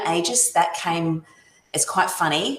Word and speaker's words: Aegis: The real pronunciation is Aegis. However, Aussies are lazy, so we just go with Aegis.